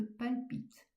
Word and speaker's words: palpite: Là encore, on appuie sur le e de terre et on appuie sur le e de palpite.